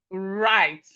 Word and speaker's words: write: We have right. The W here is silent. So as you can see a pattern here, whenever we have W and R at the beginning of a word, the W is silent.